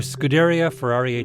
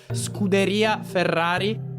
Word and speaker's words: Scuderia Ferrari: Today we're diving into a fascinating conversation with Stefano Palard, head of fan development for Scuderia Ferrari HP. Your pronunciation is it's strongly American. It's more Scuderia Ferrari.